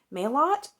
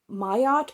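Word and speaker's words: Terese Marie Mailhot: that was heartberries by Theresa Marie maylott or not me a lot I used to pronounce this male hot but then on the audiobook there were two different pronunciations one from the regular narrator and one from the uh narrator of the introduction so it's either mayat or Mayo I think it's Maya so Teresa Marie mayat I do think a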